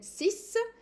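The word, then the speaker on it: six: air goes up then Sis Sis I'm just pronouncing the ex as an S sis set seven no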